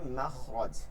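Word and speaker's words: مخرج: বিল রব্বিশহ সদস মাখরজ শব্দটা হচ্ছে খরজা থেকে বের হয়েছে এই মাখরজ আরবি শব্দ উচ্চারণটা হবে মাখরজ।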